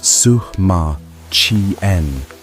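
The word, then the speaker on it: Sima Qian: The ancient historian Sema Chian, pronounced Sukma Chien, writing about a century after the emperor's death, described what lay beneath the earth mound.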